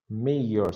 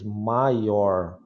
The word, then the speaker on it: mayor: Mayor. Se você pronuncia certinho, mayor. Agora, se você fala que nem no português, maior, você acha que é maior, né?